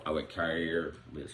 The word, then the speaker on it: Kaiir: Number 4, I went Kaiir. That's how you pronounce Kaiir.